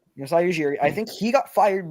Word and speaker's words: Masai Ujiri: I think Ujiri, is that how you say it? Ujiri? Masai Ujiri. Yep. Masai Ujiri.